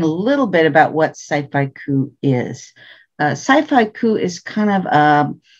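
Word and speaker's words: scifaiku: elgin finalist for her book the planets a sphy coup poetry collection wendy's short stories and poems have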